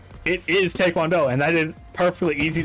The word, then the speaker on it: taekwondo: The Korean the T-A-E is pronounced Tay. And the weirdest part, in English, if you have something written T-A-E, you say Tay.